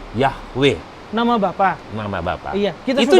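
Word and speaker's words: Yahweh: nama Tuhan yang benar yhwh tetragrammaton sehingga diucapkan yahwe nama Bapak Mama Bapak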